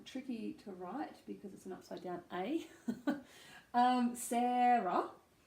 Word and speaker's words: Sara: to write I um Sara just make sure that first syllable has that Sara the stress on it then we have